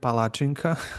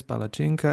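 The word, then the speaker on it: palačinka: Although in some cities I heard palacinka, which is for me it's weird, but usually it's palacinka and Ivar. So, Palacinka, it's pa, right? palacinka, Cinca, chi. ci, that's Yeah.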